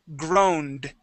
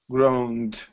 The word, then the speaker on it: groaned: The word is groaned, with a D sound, groaned. Groaned. Good, one more time, groaned. Groaned.